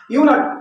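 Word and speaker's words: eunuch: यूनक, यूनक means होता है नपुंसक, इसका उच्चारण क से लेके ग तक के बीच हो रहा है, इसके पहले ए लगाते हैं।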